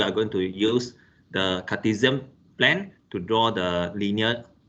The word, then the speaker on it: Cartesian: to introduce about the cartesian planner this is this one is pronounced z sound cartesian plane okay which uh involve the